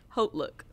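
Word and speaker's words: HauteLook: So, or Hote Look. Those are my two. How you say it? Hote Look. That's the correct way to say it. Hote. It's not hot.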